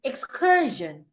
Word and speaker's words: excursion: It is not every time that Sio N sounds shun like in mission. Sometimes S I N makes a different sound. It sound like we have in vision and excursion.